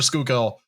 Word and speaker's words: Schuylkill: If it looks, just say it the way it's pronounced, except for Schuylkill, and then just make up your own rules.